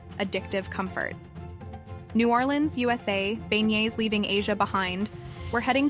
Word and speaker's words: beignet: quite like a fresh, hot beignet, pronounced bey, these are not your average donuts.